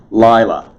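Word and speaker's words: לילה: all three of those lila notice the accent on both the first llamad it is it is action on the first syllable lila knight not r i'm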